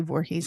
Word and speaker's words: Voorhies: Janice VOR or VOR it's usually Vorhees I don't think it would be pronounced any other way and I I'm not